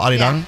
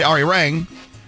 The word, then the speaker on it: Arirang: With like a little light D in the middle, Aridong. Yeah, Aridong. But people say Arirang.